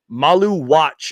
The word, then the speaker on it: Maluach: Malu Watch is how you say it.